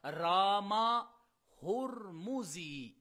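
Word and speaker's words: رامہرمزی: المیم وفی آخرہا الزاء، اور وہ جو دوسری میم ہے اس کے بارے میں فرماتے ہیں کہ اس کے اوپر ضمہ ہوگا۔ تو اصل اس کا تلفظ پھر بنے گا رامہ ہرمزی، اس کو پڑھا جائے گا۔ چونکہ یہ ائمہ اسلام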